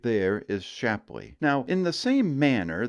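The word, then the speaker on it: Shapleigh: town that you have the full opportunity to mispronounce and that's the town of shapley no it is not shapely but that right there is shapley now in the same manner that Madrid and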